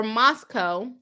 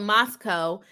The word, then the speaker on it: Moscow: anyways it's called a Moscow it's called Moscow and the residents don't like when people get it wrong it looks like Moscow